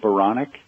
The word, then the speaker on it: Baranek: my last name is bonic it rhymes with bionic I said I I